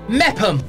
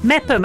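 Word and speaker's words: Meopham: and they're in memphim is that how you say kent mepham mepham and you don't spell it mepham you've got no in there so it looks a really odd thing i'd also like to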